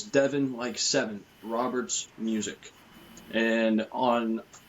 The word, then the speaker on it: Deven: It's Devin Roberts Music and my name is spelled D E Ven. So it's Devon like7 Roberts music and on X you can find me at Devon Roberts 95.